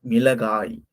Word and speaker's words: மிளகாய்: மீள, காய். மீள, காய். மிளகாய். மீள, கா, ஈ. மிளகாய். மிளகாய். இது மிளகாய். நம்ம பொதுவா வந்து வழக்கு சொல்ல மொளகான்னு நம்ம சொல்லுவோம்ல. இது வந்து நம்ம மிளகாய்ன்னு தான் நம்ம சொல்லணும்.